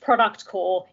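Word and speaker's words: ProductCorp: product core and yes it is pronounced product core even though it's spelt product corp because startups and naf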